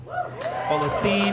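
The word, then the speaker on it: فلسطين: and go with festine festine is the Arabic way of saying it the only issue with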